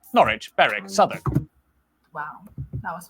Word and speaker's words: Norwich: Norwich, Berwick, Southwark. Wow, that was fast. Leicester, Worcester, Gloucester. W at the start of the final syllable is silent. Norwich. Norwich.